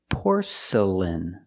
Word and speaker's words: porcelain: out of porcelain pronunciation porcelain the first syllable is a sound or